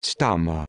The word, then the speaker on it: stama: stama pronounced s uh my adjective a term used